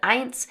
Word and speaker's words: eins: But then remember that we have that 't' sound between the n and the s here at the end of the word, 'eins'.